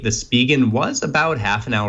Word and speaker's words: Spigen: I think it's pronounced Spigen. I asked them once, and they said it was Spigen. I always used to say Spigen, though.